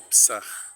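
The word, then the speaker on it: Pesach: Psar ou psch, a transliteração em português, mas se pronuncia psar, que significa passagem.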